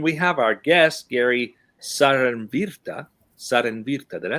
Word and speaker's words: Saarenvirta: And then we have our guest, Gary Saarenvirta. Did I say that correctly? Yeah, you said that very correctly. It's a Finnish name. So most people say Cernvirta, but Saarenvirta is the Finnish pronunciation.